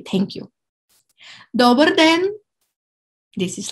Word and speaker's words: dobar den: Dobar den. And den, which means day. But in this case, we put the stress on the first syllable. Dobar den.